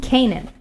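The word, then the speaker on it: Canaan: on of course in english this word is pronounced kanan okay it's time for you to repeat line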